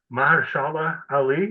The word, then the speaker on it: Mahershala Ali: Mahershala Ali, is that how you say it? Apologies if I pronounced your I name believe wrong. that's right. Yes.